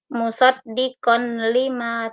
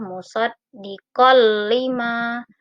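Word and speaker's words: مُصَدِّقًا لِمَا: Ini ada fathah tain bertemu dengan huruf lam. Tidak boleh dibaca musaddiqon lima, tidak boleh, tapi fathah tain dimasukkan ke dalam huruf lam. Maka cara membacanya adalah musaddiqal lima.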